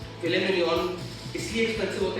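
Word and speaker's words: filet mignon: बोले ना एक बार, फिले मिनियन की स्पेलिंग होती है MIGNON, लेकिन उसको मिग्नॉन नहीं कहते, फिले मिनियन, फिले मिनियन।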